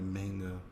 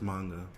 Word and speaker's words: manga: hear it, I'm just like, it's not a manga. It's pronounced manga.